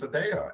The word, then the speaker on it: Adaya: So I inverted the Y and the A, and then we just intentionally say you will pronounce this Adaya.